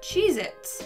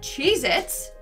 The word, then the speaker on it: Cheez-It: number nine we have cheez-its but apparently that tasty cheese cracker is not called cheez-its it's cheez-it either i've been saying it